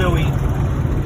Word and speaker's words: Bowie: They're pronouncing it wrong. It's Bowie.